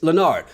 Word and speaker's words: Lenard: like no uh it's it's not leonard it's lenard and he just corrected on how to pronounce his name and like you're